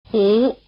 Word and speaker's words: Hú: Hú, Hú, Hú Notice that the sound "u" is spelled with a U. Though not quite the same, it's like the English vowel U in Honalulu. Try repeating. Hú, Hú, Hú Here's the fourth one.